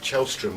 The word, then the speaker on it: Källström: And what about, I understand Kim Källström is the way you pronounce his name.